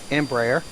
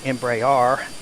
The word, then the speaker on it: Embraer: you very much, that I mispronounced Embraer repeatedly in my video by saying Embraer, and so thank you for that correction. It's Embraer, I believe, is the way it's properly pronounced.